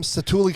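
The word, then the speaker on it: Satu'li: i think i'm not gonna murder the name cetuli canteen is that right yes that's how you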